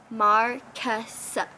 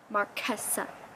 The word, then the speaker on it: Marquesa: So I know my name is spelled with a Q-U-E. It's pronounced K. Marquesa. Marquesa.